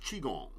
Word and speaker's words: Qigong: This is all, you can go online, put in Tai Chi, put in Qigong, it's QI though, pronounced Qigong. I always say Qigong.